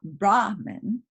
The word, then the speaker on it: Brahman: accent on which syllable when the accent is on the first syllable brahman right that refers to the priest okay brahman when the